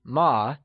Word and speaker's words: 吗: So remember that ma is pronounced using a neutral tone, which carries a soft falling sound, as if the sound is fading away.